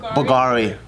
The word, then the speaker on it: Bulgari: How do you pronounce this? Bulgari? Bulgari. Why is it a V and not a U?